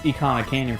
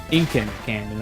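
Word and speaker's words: Ikana Canyon: Yeah, I mean, I used to pronounce Icona Canyon from Majora's Mask Incan Canyon as a kid.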